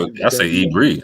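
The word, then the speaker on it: עברי: And I refuse to say it with a V, but that's just me. How do you say it? I say Ibri. I say with a B.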